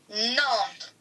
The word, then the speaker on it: Nantes: So the S is silent, so it's Nantes. But if the S was loud, it'd be Nantes. Yes, but instead, it's Nantes.